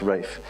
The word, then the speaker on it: Ralph: name is rafe rafe r-a-l-p-h is pronounced rafe but i can't pronounce